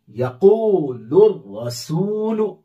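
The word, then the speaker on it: يقول الرسول: फिर इसे यक़ूलुर रसूलु। अब देखिए यहां रा जो है हुरूफ शमसी में से है, इसमें तशदीद आ गई, चूंकि लाम पढ़ेंगे नहीं।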